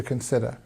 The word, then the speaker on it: consider: There are many options to consider. Consider. Stress on the second part.